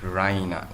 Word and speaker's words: Raina: She pronounces it Rhina with the streets on the she goes to the bed expecting to find Rina there.